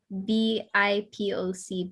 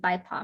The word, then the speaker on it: BIPOC: Oh, BIPOC, BIPOC.